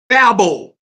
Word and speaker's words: Babel: name of it called babo that's the Hebrew transliteration of pronouncing it the Greek transliteration of pronouncing it is Babylon and in the King